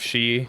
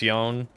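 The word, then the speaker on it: 四: Um, also sometimes four is instead of she, which is means death, it's yon, which again, it's like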